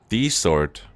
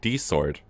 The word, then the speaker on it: ディソード: D-sword. Okay, here we have it of the official pronunciation. D-sword.